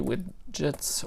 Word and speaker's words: Widgets: first as well QT Widgets or with Git QT with Git application it's pronounced widgets but I'm just gonna say with gets because I can't spell otherwise it's not ARG